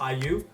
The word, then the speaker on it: IU: on to video for yo if you wear uni you better listen up did y'all know that